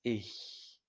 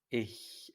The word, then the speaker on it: ich: Ya vimos la última vez que la combinación CH después de una I se pronuncia muy suave, es ich, ich.